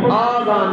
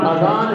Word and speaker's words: اذان: ہے۔ اور یاد رکھنا بعض لوگ اس کو تلفظ میں آذان بولتے ہیں جبکہ یہ عربی گرامر کے مطابق آذان نہیں اذان ہے، اس لیے کہ قرآن میں آتا ہے اذان من اللہ و رسولہ، قرآن میں یہ الف بتہ کے ساتھ نہیں آیا یہ لفظ، اس لیے بولنے اسی طرح بولا جائے گا، صحیح تلفظ یہی ہے۔ تو اس کو آپ